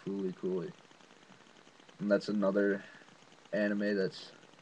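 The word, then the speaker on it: FLCL: It's pronounced Fooly And that's another anime that's got a large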